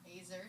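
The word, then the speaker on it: עזר: so word helper uh the word Acer pronounced yeah azer speaks of God's strength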